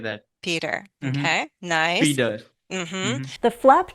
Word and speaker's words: Peter: It sounds like a D sound, like Peter. Aha, I get that. Peter. Mm-hmm. Okay, nice. Peeder.